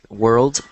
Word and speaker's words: world: screen I'm highlighting it world world oh it's okay so it sounds like you're saying word but here there's an